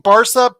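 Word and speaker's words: Barça: respect you and say Barca yeah well I mean for us we say Barcelona so you know Barca yeah but I think Americans say Barka that's fine um when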